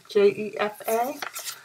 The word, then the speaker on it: Jefa: J-E-F-A, Jefa, I think it's pronounced.